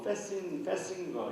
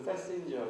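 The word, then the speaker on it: Festinger: 그래서 어찌 보면은 리온 페스팅거 또는 뭐 페싱거 이렇게도 부르던데 페스팅거 우리는 그냥 발음 그대로 하면 페스팅거가 되고 미국에서는 페신저 이렇게 발음도 하고 그러는데 우리가 이전에 우리가 어떤 사회적 추론할 때 하이더의 균형 이론이 있었죠.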